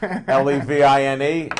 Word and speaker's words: Levine: That's ALLENLEVINE, and it rhymes with machine, talking machine.